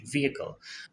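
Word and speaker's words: vehicle: একটা পয়েন্ট সেটা হচ্ছে আমি প্রত্যেকবার ভিহিকেল উচ্চারণ করতেছি তার কারণ হচ্ছে এটাই কারেক্ট প্রোনাউন্সিয়েশন ভিহিকেল আর লেখা থাকে যদিও ভেহিকেল ভেহিকেল কিন্তু উচ্চারণ করে ভিহিকেল আপনারা কোন ইংলিশ কোন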